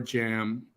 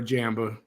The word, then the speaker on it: jamb: The B is silent. It says door jam. Door jam, not door jamba.